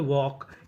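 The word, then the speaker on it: walk: जैसे डब्ल्यू एल के इसे पढ़ते हैं वॉक। यहां पे एल हमारा साइलेंट रहता है। एल का उच्चारण नहीं करते।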